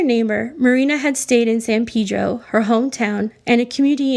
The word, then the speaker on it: San Pedro: los angeles and the people in san pedro say san pedro but much of the rest of los angeles pronounces it san pedro and this can cause issues for locals who like their town pronounced correctly those were their words